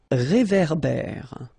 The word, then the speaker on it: réverbère: So here you've got this accent aigu et, and then here you've got this accent grave é. Okay, et é. So it goes like réverbère.